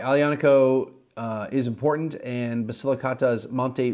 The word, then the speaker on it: Aglianico: Impregnativo, because you don't pronounce the G. That's why it's Aglianico, not Aglianico.